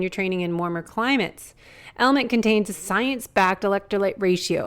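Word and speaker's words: LMNT: sponsors Ln element it's spelled l MNT but pronounced element if you haven't heard about this element is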